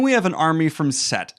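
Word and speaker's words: Cett: have an army from Set. It's spelled C-E-T-T in the book, but I put it S-E-T on the board because my dyslexic ass needs to be reminded how to pronounce it.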